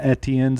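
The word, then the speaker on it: Etienne: hearing a lot of etns out there vtn's pretty easy for me which is bad you go to the clemson media guide i loved it pronunciation guide travis etn in parentheses it was capital e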